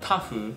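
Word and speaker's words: tahu: garlic and other ingredients in Indonesia tofu is pronounced tafu and the popular fried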